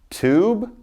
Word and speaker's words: tube: Long vowel I with a silent E. So listen to me as I say these. We've got plain, time, cape, hope, tube, bite, cute, and ripe. Never did I say the E because it's silent.